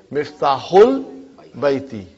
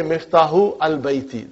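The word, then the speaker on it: مفتاح البيت: Because al, remember that Hamza is Hamzatul Wasal. If it is in the middle somewhere, we assimilate it. We don't pronounce it. So you will say Miftahul Baiti. Huh? You cannot say Miftahu al Baiti. That will be wrong.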